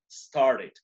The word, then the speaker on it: started: Y aquí, start, en start como termina con T, aquí sí debo pronunciar started. Solo si el verbo base termina en T o en D, debe sonar la E del ED, ¿no es cierto?